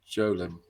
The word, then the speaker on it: golem: Soft G like giant. Jolem.